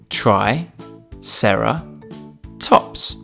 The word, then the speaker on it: triceratops: we have with us today triceratops try sarah tops can you say it with me try sarah tops let's learn all about triceratops triceratops was found